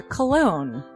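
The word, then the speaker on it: Colon: a self-published book by Christopher cologne Chris cologne smells good to me but good broke Africa cold village series a key but it is spelled see olo n Ambani but double jackpot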